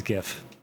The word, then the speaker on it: GIF: Is it GIF or GIF? It is GIF.